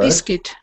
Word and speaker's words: biscuit: you got my word biscuit biscuit yes so the ending the last syllable sounds like um kit first kit biscuit yes so that's level one